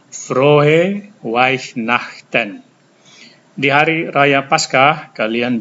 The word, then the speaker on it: Weihnachten: Dan ini ada EI, sudah diajarkan kali lalu, ini dibaca I. Saya ulangi, Frohe Weihnachten.